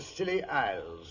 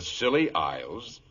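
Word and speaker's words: Scilly: Year's Eve off the silly Isles the silly Isles it sounds appropriate doctor the name of these particular islands is spelled s-c-i-l-l-y they are located roughly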